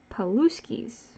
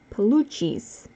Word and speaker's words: Palucci's: And it was not until I was in my 20s that I heard someone pronounce it the proper way. Palucci's.